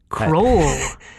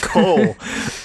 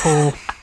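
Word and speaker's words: Kohll: by Malcolm uh Cole croll the power of Malcolm croll there's no R there it's Cole yeah unfortunately it's just Cole directed by Chris cluff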